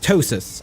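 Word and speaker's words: ptosis: um this is this is a thing called tosis it's PT o s i s I think it's spelled um but you know people like Forest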